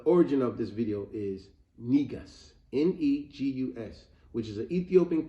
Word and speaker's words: Negus: of a lamb and if it's a female nigas n-e-g-u-s it would be pronounced that would be a female uh ruler